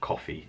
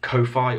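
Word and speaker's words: Ko-fi: as one cup of coffee a month you can support me on Kofi or coffee however you want us to pronounce it which is in the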